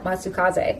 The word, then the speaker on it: Matsukaze: actor was masaya matsukaze ka matsukaze i believe is how you pronounce it and the english voice